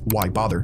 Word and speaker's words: Wybther: out as short phrases, like Wybther, which is pronounced why bother.